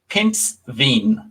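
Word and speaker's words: pindsvin: word for hedgehog so this is a pinspin pins veen yes okay because i i have seen as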